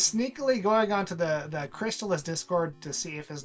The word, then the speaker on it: Crystalis: you that it's pronounced cristalis because that's ridiculous or sorry ridiculous okay it's it's crystallis guys come on like like a chrysalis because Messiah is in